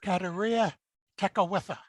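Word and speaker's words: Kateri Tekakwitha: on the far right on the top is katarina tekawitha who was the native american who was martyred and has since been declared a saint can you pronounce that again i was amazed career tech with her exactly and as you can see there were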